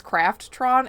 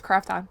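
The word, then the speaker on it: Krafton: actual company name was Craftron, and it's spelled craft like craft cheese slices. So it's Crafton, isn't it? Is it? Oh yeah, there's no R. I'm adding an extra R. It's Crafton. Sorry.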